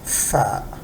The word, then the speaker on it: ف: equivalent in English and PHA is exactly pronounced like the letter f so this is far far and like about